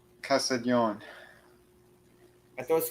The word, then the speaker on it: Castiglione: From Castiglione. Castiglione. I thought it was Castiglione. Castiglione. Yeah, the G's not pronounced. It's like okay.